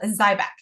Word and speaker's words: Xyzbac: in 2024 and it's a prescription vitamin called zyc um it's spelled really weird XYZ b a c um